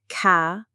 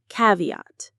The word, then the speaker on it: caveat: It has 3 syllables. Ca-vi-at. Say it with me. Ca-vi-at. The stress is right at the beginning on the first syllable, caveat.